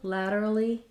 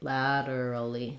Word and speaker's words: laterally: lateral lateral and then laterally laterally we just add another e sound laterally laterally he moved laterally